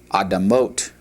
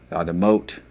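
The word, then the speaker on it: אדמות: It's pronounced adamah, adamah, and the plural would be adamot, adamot.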